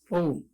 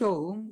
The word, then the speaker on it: Om: U represents the rolling forward of the impulse that begins at the root of the tongue and ends at the lips. A properly pronounced Om will represent the whole gamut of sound production, and no other word can do this.